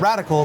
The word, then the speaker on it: Radicle: It sounds radical cuz what we're doing is very innovative. Uh but the way we spell radical means the root of the plant.